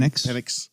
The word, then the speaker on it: Penix: They go off and they get Michael Pence, however you say his name. Penix.